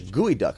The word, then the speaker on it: geoduck: It's a gooey duck, I believe.